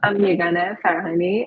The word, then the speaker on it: Yeganeh Farahani: So you actually pronounced my name quite well. I'm Yeganeh Farahani, and I live in Iran.